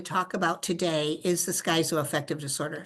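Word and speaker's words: schizoaffective: about today is the skyo effective disorder some people pronounce it skizo effective disorder but I'm a skyo effective disorder sort of person here so what are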